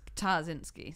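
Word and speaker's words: Ptaszyński: But I should say for actual Polish listeners that it's Ptarzynski, so you're supposed to say the P.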